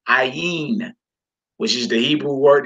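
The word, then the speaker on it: עין: We pronounce this ayin, ayin, which is the Hebrew word.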